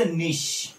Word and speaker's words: niche: Then second thing याच्यामध्ये important आहे that is निश. That is निश. बघा निशची स्पेलिंग NICHE आहे. या निशला तुम्ही प्रोनाउन्सिएशन वेगळ्या प्रकारे करू शकता, निश वगैरे, ठीक आहे. तर आपण याला सायंटिफिकली निशच म्हणणार.